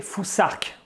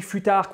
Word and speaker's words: futhark: Ensuite, la troisième rune du Fusark, que vous voyez ici, elle se prononce un peu comme l'anglais thing, on doit donc prononcer Fusark. C'est quand même extrêmement important parce que si on dit Futark ou Fusark, déjà on